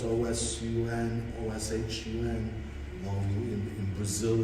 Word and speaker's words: Oshun: So with Oshun literally means the source. And it's spelled O-S-U-N, O-S-H-U-N.